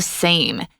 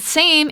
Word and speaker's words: same: So they all have to be the same. And same is our next word power word, actually. Same is an adjective, and it's same, not Sam. Make sure you pronounce it correctly. S-A-M-E, same.